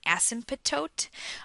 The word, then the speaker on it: asymptote: the T as an asymptote um but most often it's just pronounced as SYM toote where the p and the T in the middle are almost silent um all right so